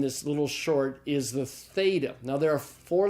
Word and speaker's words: theta: first Ilham this is the theta it's the th sound like in the English word